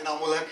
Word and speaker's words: इनामुल हक: मेरा नाम बड़ा बिगड़ता जा रहा है। मैं शहर में नाम कमाने आया था, कभी स्पेलिंग और कभी प्रोनाउंसिएशन। मेरा नाम इनामुल हक है एंड आई एम नॉट a tourist. My name is इनामुल हक एंड आई एम नॉट a tourist, so please make a correction.